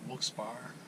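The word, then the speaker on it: Wilkes-Barre: Allentown and up towards Scranton, and it's at Wilkes Bar, that's how you pronounce that.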